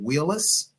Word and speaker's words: Wheelis: on a personal note please tell me the proper pronunciation of your last name is it Wheelis you said it correctly that is correct all right all right